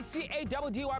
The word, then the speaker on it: Caddy: Your boy C-A-D-D-Y pronounced Caddy, yet on another mission, Buffets, running the streets of Mzanti.